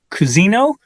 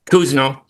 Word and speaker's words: Cousino: Kuzino. Is that your name, sir? Kuzno. Kuzno. Kuzno. I keep mispronouncing it.